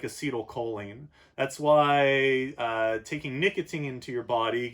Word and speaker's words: acetylcholine: know by name called acetylcholine guys sometimes pronounced acity old choline but that has the a word in it so I usually pronounce it a C toll cut like you take a seat acetylcholine you have it